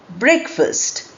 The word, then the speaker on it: breakfast: Then you look at the word breakfast. We write it as break fast, but we don't pronounce it that way. We pronounce break first.